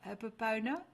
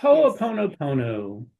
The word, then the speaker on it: Ho'oponopono: My beautiful Michael, you will have to help me the pronunciation, but you will also do a Hopopona. That I love So myself. Yes, Ho'oponopono.